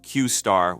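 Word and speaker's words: Q*: is quite the opposite originally this model was known as Q asterisk pronounced qar within open AI this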